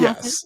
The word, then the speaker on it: Hassett: Kevin Hassett?